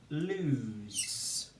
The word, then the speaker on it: lose: And we say l, oo, with the O spelling of oo, as in to and do. Lose. Lose, lose. With the SE spelling of z in lose.